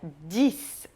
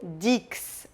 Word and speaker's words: dix: 10, que, como o cis, se pronuncia dis e não dix, ok?